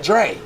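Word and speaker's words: Jray: I said, Dre. He's like, yeah. He's like, most people don't get that. I said, but that's the J sound. It's J. But it's also the D sound when the R is behind it.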